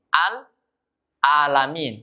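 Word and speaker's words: العالمين: atau kebiasaan-kebiasaan membaca al-alamin Jadi al-alamin bukan Al bukan alamin Tapi bacanya al-alamin and and Robin alamin a&a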